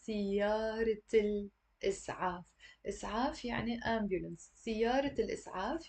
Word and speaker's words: سيارة الإسعاف: And we don't say siyara al-is'af. That would be completely wrong. We have to say siyarat al-is'af.